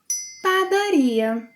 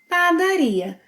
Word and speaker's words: padaria: Padaria. Padaria. Place the stress on ia. Ia. Padaria. Similarly to what you do when saying gostaria, compraria, trabalharia, padaria.